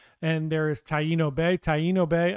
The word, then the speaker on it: Taino Bay: Taino Bay, I think that's how it's pronounced, is a newer port in the past year or so.